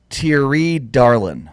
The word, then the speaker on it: Thierry Darlan: Thierry Darlan. Thank you. That's how you say it.